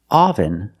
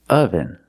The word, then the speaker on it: oven: The pronunciation is not oven, but oven. The first syllable makes a sound like cup and up. This is a relaxed sound.